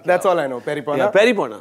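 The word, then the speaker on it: pairi pona: Yeah, peripona. Yeah, because it rhymes with peri peri sauce.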